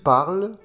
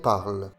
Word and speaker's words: parlent: Et pour le pluriel, il, elle, la terminaison ENT ne se prononce pas. Il parle, elle parle.